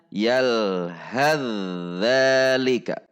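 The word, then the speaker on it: يَلْهَثْ ذَٰلِكَ: Fa sukun bertemu dengan dzal. Sehingga cara membacanya adalah fa dilebur kepada huruf dzal atau dimasukkan atau diidghamkan. Sehingga cara membacanya yalhadzalika. Yalhadzalika. Jadi fa sukunnya tidak terbaca karena sudah dilebur ke huruf dzal.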